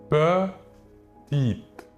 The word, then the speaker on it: petite: En fin de mot, le E ne se prononce pas. Il est dit muet. Nous dirons donc petite.